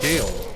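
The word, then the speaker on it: Gael: uh then there's a fort called g a e l and that's actually pronounced Gale so there's Gale Fort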